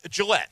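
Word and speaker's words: Gillotte: is how you say his last name uh Gillette Gillette okay yes about say gelot it's a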